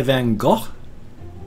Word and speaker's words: Van Gogh: rather be painted by Van Gogh I can't remember exactly how to pronounce his name it's not pronounced than the American eyes go over stand just more like hawk or something like that so would I rather